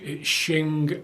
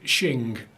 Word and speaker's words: Qing: It's Shing, Ming, Beauty, Rainbow. It's got a Chinese name, which is why it's Qing, but it's pronounced Shing, because I checked to be right.